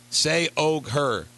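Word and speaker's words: Se og Hør: that a Danish magazine Say Og Her, pronounce, here, I'm going to help you out here, capital S-E, space O-G, capital H-E-R, has apparently ran completely nude photos of the British princess.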